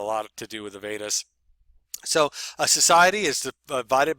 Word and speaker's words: Veda: Okay, and that's Veda, Vedas is pronounced Veda.